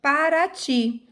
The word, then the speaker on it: Paraty: tenho aqui ó em Paraty eu tenho três sílabas a tônica é a última sílaba para a titi a